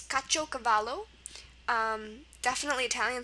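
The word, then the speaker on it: caciocavallo: Word number two today is kacho cavalo.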